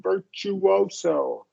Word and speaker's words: virtuoso: Yeah, that one's a really, so you really want to hear that W. Virtuoso.